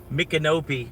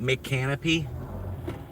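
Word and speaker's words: Micanopy: It's called Mkopi. Mkopi Glow. I told it to make a song about Mkopi, Florida. It's pronouncing it the wrong way. It's calling it Mcanopy. It's called It's saying Mick Canopy, but other than that,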